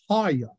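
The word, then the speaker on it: הָיָה: Now, the Hebrew word in this particular passage of scripture for I am is haya. And if you phonetically can pronounce Haya, H-A-W-Y-A-W, that's the Hebrew word.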